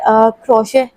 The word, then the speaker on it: crochet: मैं बहुत दिनों से क्रोशे इसकी स्पेलिंग ये होती है क्रोच करके और मैं इसको गलत प्रोनाउंस कि जा रही थी लेकिन मुझे अब पता चला है कि इसको क्रोशे पढ़ेंगे मतलब क्रॉ शे तो क्रश फैब्रिक जिसको